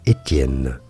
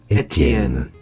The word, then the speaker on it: Etienne: In French it is said as Etienne. Etienne.